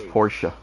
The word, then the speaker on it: Porsche: You have to hit the E as a A. It's Porsche.